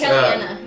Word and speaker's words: Kalina: I mean, X is hard to pronounce. It's Kellyanna. Kellyanna.